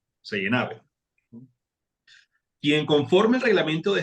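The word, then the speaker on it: Seynhaeve: Así se pronuncia. Seijenave.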